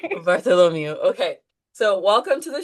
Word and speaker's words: Bartholomew: some reason I was having a hard time pronouncing Bartholomew. Is that right? Bartholomew. Bartholomew.